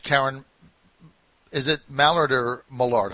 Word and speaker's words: Mallard: law of which Karen is it Mallard or Maillard how do I say her name now Mallard Mallard I just want to say it right